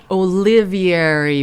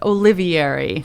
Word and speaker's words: Olivieri: And Steve, I'll just correct you on the pronunciation of my last name there. Uh oh. Well. No. Okay. What is it? Giving you a bad time, Steve. No, that's fine. It's Olivier.